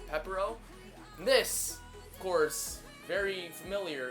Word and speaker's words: Pepero: And although I may pronounce this in Korean, in English it's pronounced Pepero.